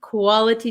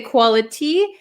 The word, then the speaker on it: quality: this is quality time quality time so again uh let's look at the pronunciation quality we can say quality but this tea is surrounded by two vowel sounds so this becomes a flap T right Quality quality quality